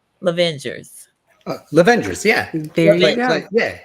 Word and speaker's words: Lovengers: pronouncing that correct lavengers lavengers yeah very yeah like The Avengers but with love Avers Avers um Midwife